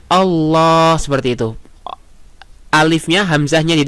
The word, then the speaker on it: Allah: Jadi Allah seperti itu, nggak boleh. Tidak boleh dipanjangkan hamzahnya. Nah, jadi kita bacanya Allah seperti itu.